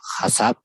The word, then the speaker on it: HACCP: OH HSCP se pronuncia HASAP, así con esta temática en español, ¿no?